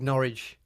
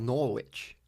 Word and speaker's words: Norwich: This is Paul Schnedhead, big Norwich or Norwich fan, Norwich. as he pronounces it.